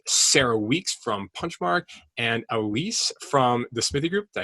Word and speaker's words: Elise: be guests with Sarah Weeks from Punchmark and Elise from the Smithee Group. Did I pronounce that right? Elise?